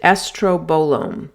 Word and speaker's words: estrobolome: know, it's it's yes, it sounds like something from a Star Wars spin-off, and you pronounce it estrobolome, but there's a very simple simple explanation as to what that is.